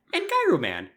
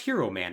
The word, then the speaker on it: Gyro Man: head and body and gyro man who's pronounced hero man in some other parts of the world all right sure you'll